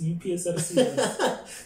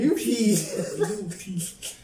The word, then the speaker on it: UP: You see those UPSRC? To make sure you see to make sure you see the UP. And there would be some people who would pronounce it up SRC. I'm like, no. UP. UP.